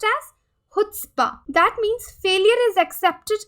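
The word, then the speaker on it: chutzpah: trait they call foot spa so it is pronounced as foot spa that means failure is accepted in the society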